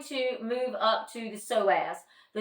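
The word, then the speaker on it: psoas: move up to the soaz the soaz is spelled PS o a s so the p is silent the soaz is in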